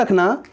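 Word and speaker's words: ρ: Okay, तो I hope कि आप इसको नोट भी कर रहे होंगे साथ ही साथ।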